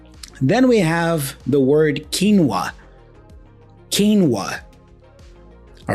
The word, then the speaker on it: quinoa: we call it kinoa kinoa you know kinoa but in English we go quinoa quinoa really different isn't it you see how